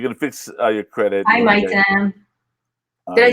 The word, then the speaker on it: Maitem: Hi, Maitem.